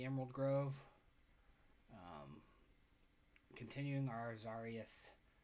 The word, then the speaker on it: Xarrius: Grove um continuing our zarus playthrough or zarus I think zarus is how I want to pronounce it uh he's A variation